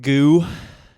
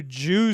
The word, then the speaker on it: GU: Goo. Well, goo is one way to pronounce it. Not the way I was pronouncing it. I asked my girlfriend if she wanted to go to the new Jew store.